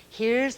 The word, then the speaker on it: here: Now look, here's the word H-E-R-E. Silent E on the end makes the E say its own name in the word, and we read here, come here.